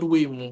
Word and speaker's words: Raymu: And it's easier to spell as opposed to saying Remo, which is the actual pronunciation of my name.